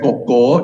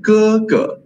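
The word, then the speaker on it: 哥: Anda cukup dengar, kalau anda dengar penutur native sebut sebagai koko, itu salah ya, itu lebih kepada berbunyi dialect. Okay, dialect bahasa Cina. Tapi ini bahasa Cina standard, kita tak pronounce sebagai koko, kita pronounce sebagai ke.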